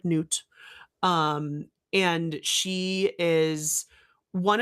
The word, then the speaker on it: Nut: It is spelled like nut. It's pronounced like noot.